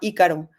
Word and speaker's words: Ícaro: es en Netflix que se llama Ícaro. así con Así es. acento en la I, no sé si lo hayas visto.